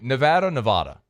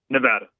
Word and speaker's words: Nevada: So, and by the way, Nevada. Nevada. Okay, got it. I always roll with what the locals say.